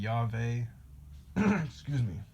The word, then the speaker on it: Yahweh: yah is short for Yahweh yah is the Elohim of the heavens and the earth the first and the last and the only another way you could pronounce Yahweh would be yaver yah is a very